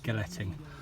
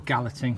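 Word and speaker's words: galleting: in stone now uh that's g a double l e t ing galetti or gallatin whatever whatever pronunciation you choose um not everybody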